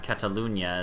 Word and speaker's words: Catalunya: the region of Catalan Catalonia Catalunya as it's pronounced my kind of you